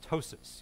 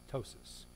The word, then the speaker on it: ptosis: okay a droopy eyelid we call ptosis you don't pronounce the Poppy ptosis little droopy eyelid okay